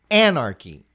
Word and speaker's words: anarchy: Anarch key. I I'll start this way. Sorry. Anarchy. Anarchy. Anarchy. What is the emphasis? It's the first one.